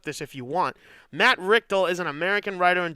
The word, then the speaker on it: Richtel: god no because it's because i'm pronouncing it like if the l wasn't r it would be richter like the richter scale so i'm gonna just say richtel matt richtel okay best